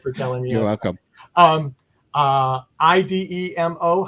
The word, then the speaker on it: Idemo: IDEMO. How do we pronounce that?